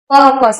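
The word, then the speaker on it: purpose: इसको परपस बोलते हैं ना कि परपस। पपस ये आर ये साइलेंट है।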